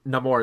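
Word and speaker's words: Namor: who keep I keep he's pronounced no more in the film but I I've always said name or for somebody um who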